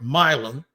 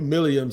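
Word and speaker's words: Milum: He, and you just heard me say it, so it's Milm. I said, "Man, I've been calling you Milliam since you were in college and since the Senior Bowl." He says, "Everybody does that." But he did tell me it is Wyatt Milm.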